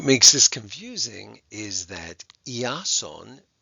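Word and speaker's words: Ἰάσων: this confusing is that iason which is the Greek way of saying Jason which is a Greek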